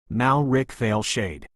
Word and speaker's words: Malric Veilshade: Neither the Blade Lords nor the broader estate could fully support their efforts concerning Malric Veilshade, pronounced Malric Veilshade.